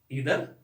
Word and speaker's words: either: जो बहुत कंफ्यूजिंग है, नाइदर ईदर, EITHER, ईदर या आइदर भी बोलते हैं लोग, नाइदर भी बोलते हैं, नीदर भी बोलते हैं। हमारे देश में लोग अपनी सहूलियत के हिसाब से, लेकिन आइदर होता है और नाइदर होता है, ये बात आपको याद रखना है।